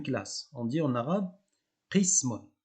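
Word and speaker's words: قسم: On dit en arabe qismun. Alors faites attention, je dis bien qismun, je ne dis pas kismun, je dis qismun. Donc il y a une petite subtilité en termes de prononciation.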